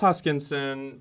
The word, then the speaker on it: Hoskinson: no questions okay cool charles uh hoskin hoskinson oh gosh i just butchered that yeah charles hoskinson uh ceo shares date